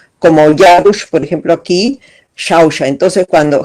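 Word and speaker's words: Xauxa: Entonces, cuando los españoles escriben con X, ellos están queriendo decir que es un sonido tipo SH, más suave que una CH, que es duro, como Yarush, por ejemplo, aquí, Shausha.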